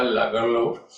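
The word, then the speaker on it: Lagerlöf: अब उसका प्रोनाउंसिएशन थोड़ा सा डिफरेंट है, जैसे मैंने कहा लागरलोफ, बिकॉज ये स्वीडिश राइटर है।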